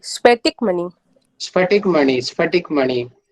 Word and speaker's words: स्फटिक: और सर वो एट वाला जो है ना, उसको प्रोनाउंसिएशन करते नहीं बन रहा है, वो क्या है? स्पष्ट, स्फटिक मणि है।